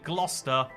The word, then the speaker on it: Gloucester: you pronounce this one ah got you it's actually gloucester i don't know why where this uh ce went uh how do you